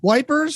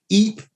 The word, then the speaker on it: Ypres: Well, Ypres, wipers. That's another one of those. Yeah. That's like, it's got 800 different ways to pronounce.